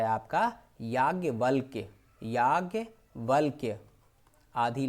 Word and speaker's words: याज्ञवल्क्य: याज्ञवल्क्य, आधी ला है और आधी का है, ध्यान दे लीजिए।